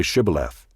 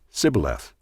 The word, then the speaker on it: Shibboleth: When he said no, they said to him, "Then say Shibboleth." And he said, "Sibboleth," for he could not pronounce it right.